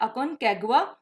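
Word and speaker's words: Aconcagua: इसकी प्रोनाउंसिएशन है अकोनकागुआ, यानी माउंट अकोनकागुआ।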